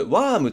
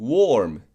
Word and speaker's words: warm: 例えばこの単語これワームって言っちゃう人が多いんですけど Warm です Warm カナダ人がこの A